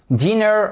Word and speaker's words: dinner: en français mais attention diner vous avez l'accentuation sur la première syllabe c'est très important de